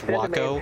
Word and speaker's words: Waco: is ridiculous yes so that's why i constantly mispronounce wacko as waco because i cannot do wacko but anyway uh from